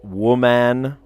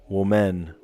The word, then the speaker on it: woman: woman, and then women, you say it like a wi instead of a wo. Woman, women. I don't know. Like, why do we pronounce the O different in those two words?